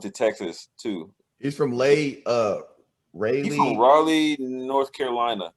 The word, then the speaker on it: Raleigh: He's from Raleigh. He's from Raleigh, North Carolina. Yeah. You're about to say it Raleigh. What? It is Raleigh. It's Raleigh.